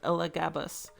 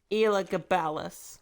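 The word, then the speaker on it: Elagabalus: Even if we occasionally draw upon long ago stories like that of the Roman Emperor Elgabus. Hold on. I can I can pronounce this one. Ela Gabalis. There we go.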